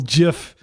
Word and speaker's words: GIF: Uh, yeah, very cool little gif there. And I did pronounce it with a hard J because that's what the creator says.